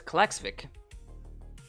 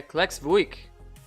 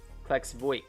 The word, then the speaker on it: Klaksvík: makes sense cool and the the eye with the the little Dash above it that is that that's just a regular eye cuz I know it's kxic oh no so have I been saying it wrong vck okay Collex vck interesting so basically the eye with the dash is a UI klex vo I'm probably